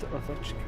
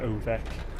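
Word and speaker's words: Ovečka: It's pronounced Ovechka. It raised from Slovak.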